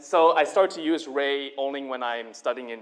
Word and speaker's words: Rey: And so I started to use Rey only when I'm studying in the university. And then after that, it just stuck. Very simple, 1 syllable, 3 letter, Rey.